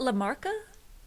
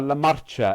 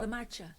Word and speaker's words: marcha: La Marcha, M-A-R. La Marcha. Ah, to C-H-A-R, M-A-R-C-H-A, Marcha, and it sort of